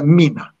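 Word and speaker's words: μήν: Yunanca'da mina, mendir. Eski Yunanca'da mendir. Min okunur şimdi.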